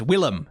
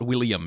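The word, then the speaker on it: Willem: time either it's just it's Willam it's not William it's it's the same name it's it's just two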